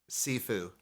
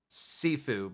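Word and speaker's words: Siifu: um it's mean by Pink sifu you mean slash hold me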